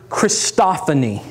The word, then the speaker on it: christophany: write in the word christophany all right let me spell it for you first of all c-h-r-i-s-t just like christ christophany and then o-p-h-a-n-y christophany write that in and what